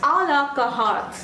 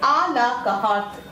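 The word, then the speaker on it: à la carte: This is pronounced as a la carte. Okay, a la carte.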